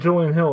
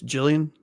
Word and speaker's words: Julian: And I think Julian Hill also had nine. Jesus. Uh, you're pronouncing his name wrong. It's Jillian.